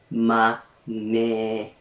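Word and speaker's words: manheru: Maneru. Don't forget the breathy consonants. You need to sigh just a little to pronounce it correctly. Maneru.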